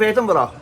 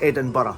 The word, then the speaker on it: Edinburgh: was just a bur so you just add Eden to B and it's Eden bur that's how you pronounce